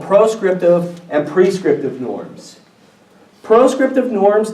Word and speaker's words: proscriptive: Here's a good way to remember proscriptive and prescriptive norms. Pros rhymes with no. Proscriptive norms tell you what you should not do.